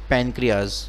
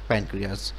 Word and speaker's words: pancreas: जो सेल्समेन को बोलते इसमें एस साइलेंट है तो इसको बोलते हैं पेनक्रियाज सो एंडोक्राइन कम प्राइसेस